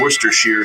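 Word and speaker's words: Worcestershire: off I'm going to give you a bell for pronouncing Worster Shear sauce correctly thank you so very much not easy to do Dave you know how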